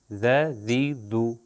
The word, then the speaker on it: ذ: سا، سا اور ذال۔ اب دیکھیے میں ذال کو زبر، زیر اور پیش سے تلفظ کروں گا، ذرا غور کریے گا، دیکھیے گا بالکل اسی جگہ پر میں اوپر اور نیچے والے دانتوں کے درمیان میں لے کر آ رہا ہوں، ذ، ذی اور ذو، ذ، ذی، ذو۔ آپ نے دیکھا اگر